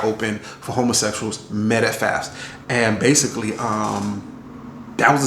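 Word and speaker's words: Pfaff's: at this place called Fafs, and basically has a silent P at the front, so it was PFAFF.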